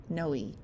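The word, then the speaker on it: Noé: Pronounced Noe.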